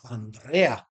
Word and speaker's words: Andrea: We say, for example, my name is Andrea, right? But it's pronounced Andrea, right? The, Mm, the R's rolled.